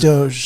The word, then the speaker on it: DOGE: Doge or Dodge? It's pronounced Doge.